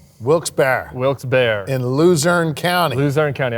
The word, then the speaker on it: Wilkes-Barre: Yeah, so you were up in, I'm going to pronounce it wrong, Wilkes-Barre? Wilkes-Barre.